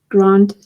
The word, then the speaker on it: grand: Is it pronounced Grand or Grand? Grand. In French.